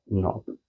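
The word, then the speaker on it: knob: सबके अलग अलग कार्य है, इसमें के साइलेंट है, नोब, सिनॉप्टिक नोब।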